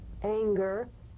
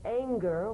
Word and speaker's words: anger: For instance, this is the difference between the soft G in singer and the hard G in anger, right? Mm-hmm. For instance, a singer sings, but an anger doesn't ang, right? So the at the end of that word is meaningless in terms of the whole word. That has a hard G.